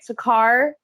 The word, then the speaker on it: Saqqara: I did recently watch a documentary on the Saqqara. Did I say that right? Saqqara, Saqqara.